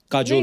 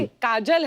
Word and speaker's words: Kajol: बड़ा यूनिक नाम है आपका, काजोल। काजल है ना, बट काजल होता है, काजोल, हाँ, मतलब बंगाली में काजोल, बंगाली में बंगाली में ऐसे उसका प्रोनाउंसिएशन है सर।